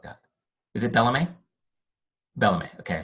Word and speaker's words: Bellame: below or something cool like that with it Bellamy Bellamy okay I said it right the Bellamy